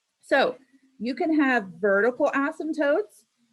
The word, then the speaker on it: asymptotes: So asymptotes actually have a silent P in there, by the way.